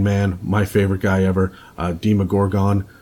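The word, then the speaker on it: Demogorgon: my favorite guy ever deema Gorgon some of you will pronounce it Demi Gorgon but that is that's a stranger sting pronunciation he is that the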